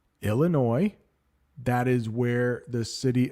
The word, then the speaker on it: Illinois: by seven states Illinois I know there is an S there but it's pronounced Illinois that is where the city of Chicago is located in the state of Illinois Indiana Ohio West Virginia